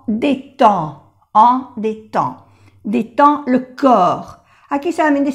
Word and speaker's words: détend: Prendre une douche, ça détend, en, la D no se pronuncia, en détend, détend le corps.